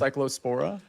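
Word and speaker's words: Cyclospora: He says buckets hotel bucket water is cure for I guess it's pronounced cycllospora.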